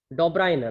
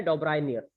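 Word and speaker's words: Döbereiner: फिर उसके बाद इन 1829 के अंदर डॉब्राइनर, ध्यान से सुन लीजिए, प्रोनाउंसिएशन सही से सीख लीजिएगा, डॉब्राइनर, इनका नाम क्या है, डॉब्राइनियर, ठीक है।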